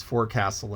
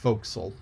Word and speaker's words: forecastle: and the reason why i mispronounced it was because i read it and phonetically and for a long long time i had the word is for castle in my head but it's foxyl and it's f-o-r-e-c-a-s-t-l-e and